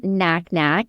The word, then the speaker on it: Nacnac: I'm Knacknack. So, my last name is spelled NAC NAC.